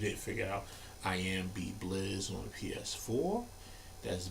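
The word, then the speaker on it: Beeblizz: figure out i am b blizz on ps4 that's b e e b l i z z notice i didn't say a t in there so b blitz is the incorrect pronouncing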